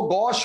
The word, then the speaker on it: gauche: कोई इसको गौची बोलता है, कोई इसको गौचे बोलता है, कोई इसको गौश बोलता है। एक्चुअल प्रोनाउंसिएशन तो वैसे है गौ। क्या है? गौ। लेकिन आप गौश बोलेंगे, किसी के पेट में दर्द नहीं, क्योंकि सारे लोग गौश ही बोलते हैं।